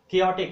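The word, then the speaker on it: chaotic: क्योटिक, इसका pronunciation आप लोग लिख लीजिए क्योटिक।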